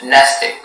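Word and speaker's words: mnestic: Your word is nestic. Nestic? Nestic. Definition. Of or relating to memory. And about information? Yes, nesting is the only pronunciation.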